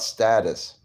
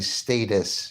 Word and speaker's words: status: judges is about position it's about status or you could say status you could pronounce it either way oh he did have